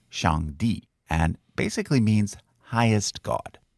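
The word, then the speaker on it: Shangdi: which was used during the Shang Dynasty it's pronounced Shang D and basically means highest God later this God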